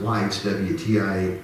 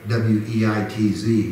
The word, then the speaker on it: Weitz: by the name of, we pronounce it Weitz, W-E-I-T-Z, but I think in German it's pronounced Weitz, not Weitz. Mm-hmm. A W has a V sound in German.